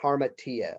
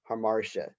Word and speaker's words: hamartia: it the tragic flaw known as the as harmatia or often pronounced hamartia this is where we